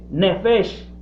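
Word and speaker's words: נפש: una palabra hay una palabra que sé se pronuncia neves esta palabra esta palabra netflix que es el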